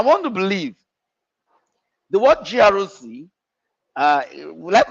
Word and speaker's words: GRC: I want to believe the word Groc uh let's call it a word or an acronym. It's actually an acronym but the way we pronounce it now sounds more like a word.